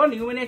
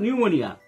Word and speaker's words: pneumonia: grip শোক নিউমোনিয়া নিউমোনিয়া উচ্চারণে খেয়াল করো নিউমোনিয়া কিন্তু পি দিয়ে শুরু হয় লিখতে আমরা উচ্চারণ করব নিউমোনিয়া কিন্তু বানানটা দেখো PNEUMONIA PNEUMONIA কিন্তু উচ্চারণ করব নিউমোনিয়া ফুসফুসের রোগ পেনিসিলিন PNICILLIN